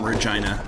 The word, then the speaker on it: Regina: Regina goes to you and cries, I first learned the pronunciation of that from some folks I met from Canada who are actually from Regina in Saskatchewan. Because growing up, I had a cousin named Regina. Spelled the same way. So I just always thought it was just Regina, but it can be pronounced Regina as well, I guess.